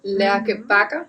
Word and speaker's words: Lærke Bagger: Do you have a part, how do you pronounce it? Lærke Bagger? Lærke Bagger.